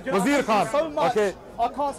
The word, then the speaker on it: Wazir Khan: Wazir Khan, yaar, you keep saying his name wrong. Wazir Khan.